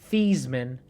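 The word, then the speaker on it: Theismann: Joe thyman actually pronounced thesman thyman changed the pronunciation of his surname while at Notre Dame to rhyme with Heisman in a bid for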